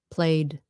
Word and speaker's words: played: add ed okay play played played okay so that one sounds like a d played that sounds like